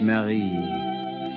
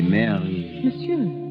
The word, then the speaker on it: Marie: lover mademoiselle your name in france we say it marie the english way i think is so much sweeter they say mary yes the english way is